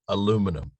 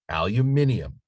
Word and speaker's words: aluminium: is the american canadian aluminum and the british aluminium the actual spelling of that word and pronunciation of it is aluminium but then there was